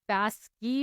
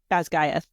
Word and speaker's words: Basgiath: And because I was like, Basky, and they're no. But, so how do you say it again? Basgiath.